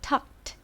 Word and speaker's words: tucked: 원래는 tucked, 중간에 t 발음이 들어가야 되는데 빨리 하다 보면 t 발음이 들리지 않고 tuck me 라고 발음이 되거든요.